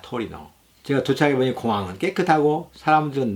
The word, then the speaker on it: 토리노: 튜린은 영어식 발음이며 이태리어 발음은 토리노입니다. 토리노.